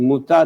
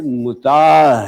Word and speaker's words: متاع: میں نے مسکرا کر کہا، بی بی یہ لفظ متع نہیں ہے، متاع ہے، جس کے معنی ہے